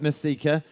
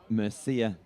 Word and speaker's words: Mercieca: 400-meter champ look Luke Murcia now I've had confirmation it's not Masika it's Luke Murcia so not Luke Luke